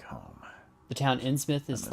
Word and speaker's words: Innsmouth: You know, I know it's pronounced Innsmouth, but you know, you were correct in my pronunciation of Innsmouthers.